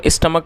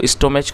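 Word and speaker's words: stomach: और इस इसको हम स्टमक पढ़ेंगे। आप इसकी जो स्टोमेज ना पढ़ें और जो इसकी जो करेक्ट प्रोनंसिएशन है वो है स्टमक।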